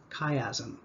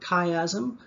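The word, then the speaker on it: chiasm: from Greek typically and in the Greek language ch is pronounced as a hard k. So the optic kayazm um chimera chelating agent these are all things that start with ch.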